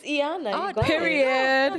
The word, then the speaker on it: Iyanah: No, it's Iyanah.